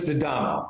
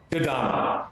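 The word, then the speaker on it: D'Adamo: So, if you're wondering how to pronounce my name, it's Dadamo. Most people are going to have a question with that. Say it one more time. Dadamo. Adamo. Dadamo. Yeah, just ignore the apostrophe.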